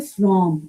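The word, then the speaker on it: FRAUM: Again जो इसके इसके साथ ही एक स्विच वर्ड है फ्रॉम एफ आर ए ए यू एम फ्रॉम इसको बोलते हैं फ्रॉम। फ्रॉम इसका जो प्रोनाउंसिएशन है फ्रॉम बोलेंगे।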